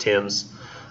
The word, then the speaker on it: Thames: notice like it says sweet Tim's our Thames the omentum rebus pronounced Tim's Leicester Queen Victoria Street